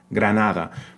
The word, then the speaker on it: Granada: things on here right that first G in Granada is the quote unquote hard G sound Granada but the first D is the soft the frickative D right which is pronounced